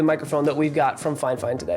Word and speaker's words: FIFINE: said in the email it's pronounced fine fine not F fine which is what it's spelled like it's fine fine so